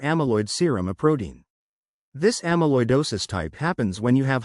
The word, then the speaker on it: amyloidosis: Amalloidosis is one type of the rare disorder amaloidosis pronounced amaloidosis.